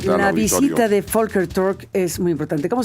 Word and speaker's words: Volker: La visita de Folker Tork es muy importante. ¿Cómo se pronuncia Fker? La la V en alemán se pronuncia como Volkswagen.